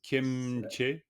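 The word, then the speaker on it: སྐྱེ་མཆེད: kieche tuk, qu'on prononce en général kemche, on rajoute un petit entre les deux, mais léger, kemche tuk.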